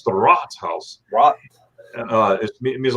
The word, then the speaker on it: Rathaus: Germans out there, if I pronounce that wrong, please forgive me. But it's not a Rathaus; it's the Ratshaus.